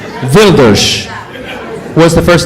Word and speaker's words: Geert Wilders: Gilder? Wilders.